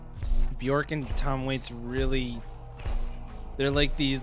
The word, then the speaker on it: Björk: being on the episode her name is actually pronounced Bjork likely the word jerk but with the word